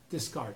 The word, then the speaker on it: Descartes: That's why I quote Descartes. Did I mispronounce it? No. Okay, Descartes.